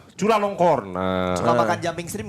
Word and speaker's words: Chulalongkorn: Jadi yang nama rajanya ini adalah Raja Siam atau Raja anjing bacanya gimana? Chulalongkorn. Chulalongkorn.